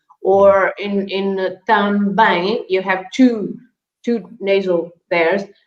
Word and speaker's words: também: So the M at the end is never pronounced as an N or an M, but is just to make the nasal sound of the vowel.